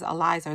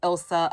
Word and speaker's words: Ilysa: because i don't know my name is spell weird it's ilysa so everyone i always get like ilsa alyssa never eliza so i'm like oh it's eliza and she goes okay